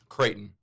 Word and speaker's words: Creighton: and uh creighton knight do you pronounce it crichton to creighton creighton okay because there used to